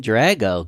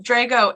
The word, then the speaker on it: Drago: is with the with drago it should be drago it's sicilian but three generations of rochesterians have made it into drago can i use drago do you like drago let's go with drago just because that's how